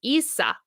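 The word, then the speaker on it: Íosa: thank you very much IA is pronounced Isa Isa Isa like Jesus oh Jesus thank you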